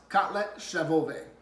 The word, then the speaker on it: kotlet schabowy: and number three was breaded pork chops it's pronounced cutlet Chef obey okay so I'm not gonna use that term